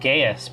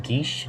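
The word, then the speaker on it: geas: a spell I always thought it was called gayest but I think it's actually pronounced guiche he's yeah which is basically like a magical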